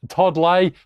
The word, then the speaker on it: Todd Ley: professional tennis player and now a professional coach Todd lay part of the lay and langman Elite Tennis Academy did I pronounce that correctly man you got it you